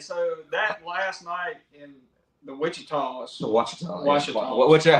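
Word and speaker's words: Ouachitas: Yeah, and so that last night the Wichitas. The Wachita. Wachita. Yeah. Whichever, however you say it. Michael, how do you say it? Wachita? Wachitas.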